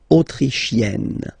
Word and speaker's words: autrichienne: So same thing here. You get and then double N. You open the autrichienne.